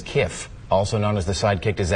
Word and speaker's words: kif: This is spelled K-I-F, which I would pronounce as Kiff, also known as the sidekick to Zap Brannigan on Matt Groening's Futurama.